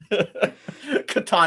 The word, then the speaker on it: Catan: Bananagrams, Settlers of Catan. I love Settlers of Catan. Catan? That's how What we is say it this? in the Midwest. Oh, is it? Very fancy. Catan, it's like Nevada.